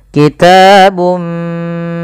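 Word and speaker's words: كِتَابٌ: Ini ada bacaan idgham bighunah. Masukkan suara bunnya kepada mim dan diganti dan serta ditahan kitabum sambil ditahan dua harakat.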